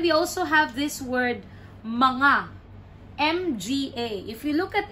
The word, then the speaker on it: mga: then n in between so it's manga manga feels like there's an invisible n and G in between this one is actually